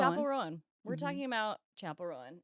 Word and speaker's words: Chappell Roan: Chapel Rowan. Chapel Rowan.